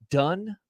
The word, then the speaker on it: Dunne: So Tyler Dunne, I believe. Dunne? How would you pronounce Dunn. Dunne? Dunn. Done.